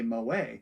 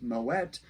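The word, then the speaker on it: Moët: But since it is the name of a Dutch trader, and in that language, they would actually pronounce the T, Moet, that's sort of become the standard pronunciation for that wine today.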